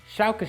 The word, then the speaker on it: Schalke: Schalke Shout is more of a sh. I can say that. I just can't do a s. Okay, so I guess now we all know what's coming next. Schalke Sau.